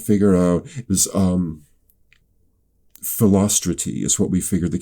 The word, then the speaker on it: Philostrate: they're like, okay, no, if you look at the syllables of this name, it's unstress, stress, unstress, stress, unstress, stress. Philostrate is what it came out to be.